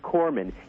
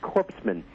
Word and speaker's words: corpsman: after all of that he can't even pronounce the word Corman he calls it corpsman at one of his speeches in his in the